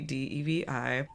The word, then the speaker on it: Devi: My name is Devi, Devi.